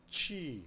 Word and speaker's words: qi: 그래서 QI, 취 그럽니다. 기의 중국 발음 취.